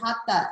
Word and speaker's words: hatha: we say sanskrit sanskrit that the h isn't pronounced the same way it's pronounced in in